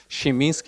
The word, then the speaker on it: Krzeminski: my name is dominic schminski i know that my last name is kind of a nightmare but it's actually pronounced but if you like break it down like this shiminsky is like close enough so like quick lesson